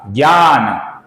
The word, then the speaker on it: ज्ञान: हिंदी में इसका उच्चारण आप सभी को मालूम है, हिंदी में कैसा करते हैं, GYA, ज्ञा, ज्ञान।